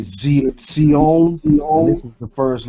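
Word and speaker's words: ציון: This next letter is your Sade, making like a TZ sound, Sade, like in, they pronounce it Zion. It's really Zion, and this is the first letter in that word, Zion, like Mount Zion.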